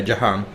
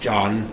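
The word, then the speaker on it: ਜਹਾਨ: actually say Jan, but if you are from anywhere else in India they'd say Jahan. Okay, but And- the Punjabi dialect, well, it's not a dialect, it's a language all itself. Yes. It's pronounced Jan.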